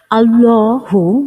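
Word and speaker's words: اللهُ: স্বাভাবিকভাবে যেভাবে পড়ি সেইভাবে আল্লাহু শব্দের লামটি এক আলিফ অর্থাৎ এক সেকেন্ডের মত টেনে পড়তে হয় আল্লাহু আল্লাহ শব্দের মোট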